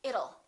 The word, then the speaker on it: it'll: don't say it till let's change that T into a fast D and say it'll it'll rain it'll be hot